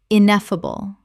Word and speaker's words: ineffable: ostensibly ostensibly Word 271: ineffable Common mispronunciation: ineffable Correct pronunciation: ineffable Four syllables with the stress on the second, meaning too great or extreme to be expressed in words.